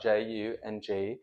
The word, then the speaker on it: Jung: They're from Jung, which is spelled J U N G, Jung, rather like Carl Jung, and it's a German company, beautifully engineered.